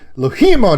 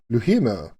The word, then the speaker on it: Louhimo: Now I say LOUHIMO now because she makes me say it like that. In the interview, you'll realize she doesn't like me saying it in the French vernacular. LOUHIMO.